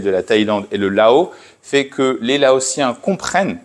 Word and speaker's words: Laos: On ne prononce pas le S final.